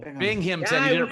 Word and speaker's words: Binghamton: missed your show in binghamton binghamton that's how you pronounce it i was just